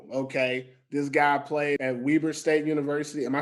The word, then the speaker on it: Weber State: don't know him okay this guy played at weber state university am i saying it right with weber state that's correct yeah i know it's it's a